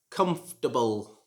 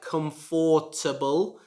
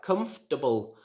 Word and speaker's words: comfortable: not pronounce it like comfortable like many of my students pronounce it they try to pronounce the or syllable in the middle but this should not be pronounced it should just be like comfortable comfortable and number two